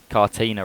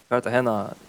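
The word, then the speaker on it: Cartagena: Uh, divine screams pronouncing Carter Cartina wrong. So, I don't know what he's talking about. Anyway, you can't continue though. Yeah. Yeah. Kartahena, you don't you just completely completely completely miss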